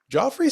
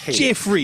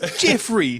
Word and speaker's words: Geoffrey: and so when King Henry dies in 11:35 Joffrey sees Jeffrey sees a chance for I'm gonna we're gonna get emails from our British listeners and I just it's Jeffrey it's Jeffrey can you not say it can you knowy